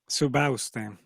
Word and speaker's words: Subauste: Subauste. Subauste. Yeah. It's just like everything in Spanish. It's just, open vowels, and it's pronounced like it's spelled, really.